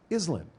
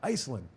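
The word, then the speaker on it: Iselin: is in you're not pronouncing it right it's pronounced Islam not Iceland oh man he says I appreciate that accountability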